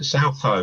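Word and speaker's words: Southoe: family have lived in, how do you pronounce it, South Hoe? South Hoe, yeah. It's a small village.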